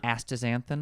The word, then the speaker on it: astaxanthin: Pronounce it for me again. Astaxanthin.